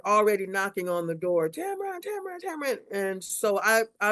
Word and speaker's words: Tamron: the 11th grade, and Tamron, or how do you pronounce, is it Tamron, Tamron? My name is TAMRON. Tamron, okay. It rhymes with Cameron.